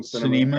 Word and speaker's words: Sinema: We had Sinema, if I pronounce that right. Kristen Sinema, Arizona.